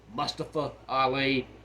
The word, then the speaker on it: Mustafa Ali: then we've got Mustafa aliers they like to pronounce it Mustafa Ali he had been pushed down to NXT and